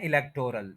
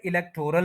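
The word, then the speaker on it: electoral: आपको सुनाई देती है बात यह है कि यह वर्ड इलेक्टोरल नहीं है यह वर्ड है इलेक्टरल य जरा ब्रैकेट में आ जाए यहां पर आपको पहले आई और एच को बोले ए ए और स्ट्रेस पूरा कर देना लेक के ऊपर लेक और फिर र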